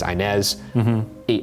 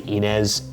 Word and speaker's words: Inez: up like for instance Josh pronounces inz Gibson's name as inz I say Enz in the episode there's one time uh